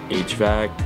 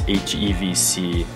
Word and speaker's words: HEVC: Playback at this resolution / FPS, your phone or computer must support I always want to say HVAC, but it's HEVC.